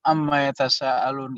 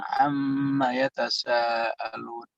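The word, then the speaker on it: عَمَّ يَتَسَاءَلُونَ: Sebetulnya misalnya amma yatasaalun, nggak begitu bacanya. Mimnya digunakan amma yatasaalun.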